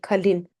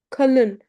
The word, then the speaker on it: kalın: We don't say kalin. Kalın, Kalın means thick.